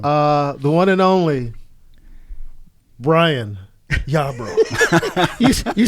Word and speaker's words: Yarbro: The one and only Bryan Yarbro. You said that with a question. You have to roll your R.